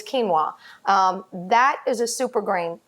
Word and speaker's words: quinoa: Some of my favorites are the ones that are made from quinoa, and that's spelled Quinoa. I know, you're probably looking at that all the time and saying, how do you say that? It's quinoa.